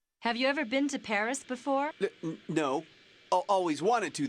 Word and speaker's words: Paris: Well, the locals pronounce it Paris.